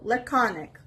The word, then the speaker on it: laconic: word is laconic laconic the veress is on the second syllable laconic it's a adjective and